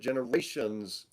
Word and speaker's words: Generation Z: Cognition and Generation Z, which you pronounce it generations.